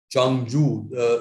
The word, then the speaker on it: Changzhou: Changzhou, ZH is pronounced J in Chinese.